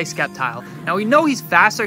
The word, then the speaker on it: Sceptile: come out next now I know some of you gonna get on me for pronouncing it skeptile but that's how I've been saying it since I was 12. so we're gonna say Sceptile now we know he's